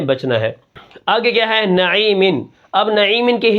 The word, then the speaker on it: نعیمن: ہے۔ آگے کیا ہے نعیمن۔ اب نعیمن کے ہجے کس طرح ہوں گے، اب یہاں پر دیکھیں نون زبر نا، عین یا زیر عی، نعی، میم 2 زیر من، نعیمن، وقفاً، نعیم۔ یا کو کھینچ کر